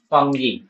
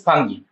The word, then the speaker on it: fungi: So today is the new chapter, new part, new class about fungi.